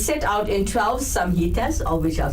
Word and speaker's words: samhitas: And it's set out in 12 samhitas, or which are called books.